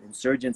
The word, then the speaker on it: NSRGNTS: So insurgents, it's spelled NSRGNTS without the I at the beginning.